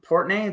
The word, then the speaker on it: Portnoy: And, but you sent me a video, and Dave Portnoy, that's how you say it, right? Yeah, Portnoy, yeah.